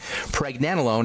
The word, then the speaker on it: pregnenolone: Preg, as in pregnancy. Preg, nen, like Ben, except nen. Pregnen, and then alone. Pregnenolone.